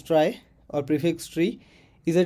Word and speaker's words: trie: data structure a try pronounced as try or prefix tree is